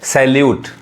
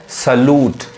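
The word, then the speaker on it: salute: लोग जरूर गलती पढ़ेंगे आप लोग पढ़े होंगे सैल्यूट है ना सैल्यूट जो कि क्या है गलत उच्चारण है इसका सही उच्चारण क्या है सलूट स सलूट सलूट समझ में आ रहा है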